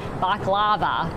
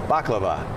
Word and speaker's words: baklava: Something else people sometimes say is baklava, but it's not baklava. It's baklava. Baklava. Did I say that right? I think. Did we correct? Perfect. Baklava.